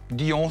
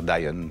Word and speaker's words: Dy'on: Alors, votre société s'appelle Dion, comment on le prononce? Dion, ça me va très très bien. Après, les anglophones peuvent dire Dion, ça me va très bien aussi.